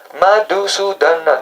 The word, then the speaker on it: Madhusudana: Madhusudana, the 5 syllables.